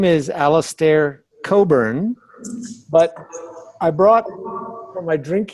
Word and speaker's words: Cockburn: a real treat so my name is Alastair Coburn but I brought my drink here my name is spelled this way so people think it's pronounced Cockburn but these people who make this very nice